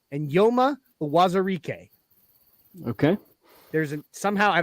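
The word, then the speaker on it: Eyioma: It's not spelled that way, but his name is pronounced Enyoma. Okay. Not Ioma. Enyoma Uwazurike. Okay. There's somehow, I don't know, the Afrikaans language between that E and that Y. There's an N sound.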